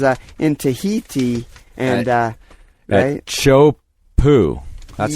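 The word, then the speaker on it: Teahupo'o: and it was uh in Tahiti and uh chop po that's how you pronounce that I looked it up today nailed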